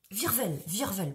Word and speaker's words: Virvel: Mais Virvel, pas Cirvel, Virvel.